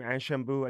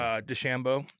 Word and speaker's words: DeChambeau: Anshambu? I can never say his name. DeChambeau.